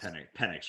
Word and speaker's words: Penix: The quarterback's name sounds like penis, so you kind of have to. Right. Yeah. I think they're good. It's actually pronounced Penix, right?